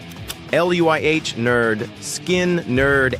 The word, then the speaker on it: Lynyrd Skynyrd: Street Survivors C pronounced Luh Nerd Skin Nerd Answer A.